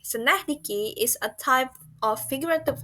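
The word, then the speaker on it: synecdoche: It's pronounced as Senahdiki. Senahdiki is a type of figurative language that uses one part to refer to the whole.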